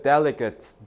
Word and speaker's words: delegate: 자, the delegate라고 읽으면 안 돼. delegat.